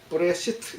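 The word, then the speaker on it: בראשית: 구약은 이 히브리말로 기록이 되어 있는데 이게 뭐냐면 읽을 때 브레시트 이렇게 읽어요.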